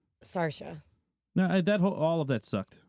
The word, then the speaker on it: Saoirse: I'm pretty sure it's pronounced Sarsha.